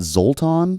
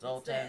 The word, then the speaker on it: Soltan: Is it Zoltan? Yeah, I feel like Zoltan. Isn't that like a It's Ben like the Stiller whole, movie? Like, I think it's Soltan. it is.